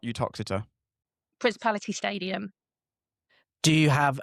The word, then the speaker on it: Uttoxeter: Is it Uttoxeter or Uxeter? Uttoxeter. There you go. Uttoxeter it is.